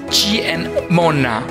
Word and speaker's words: Ciemmona: and M in Italian C pronounced G and M pronounced ma same together makes G n Mona cheer Mona literally means